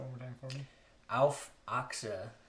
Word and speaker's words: Auf Achse: Can you pronounce that one more time for me? Auf Achse. Auf Achse.